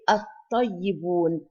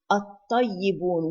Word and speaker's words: الطيبون: Here الطيبون, الطيبون, we did not pronounce the lam.